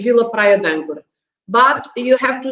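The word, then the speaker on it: Vila Praia de Âncora: Kind of eliminate the E on the D, and we say Vila Praia d'Âncora.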